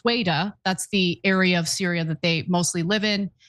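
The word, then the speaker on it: Sweida: Wishing Wells writes in and says, pronounced Sweda, that's the area of Syria that they mostly live in.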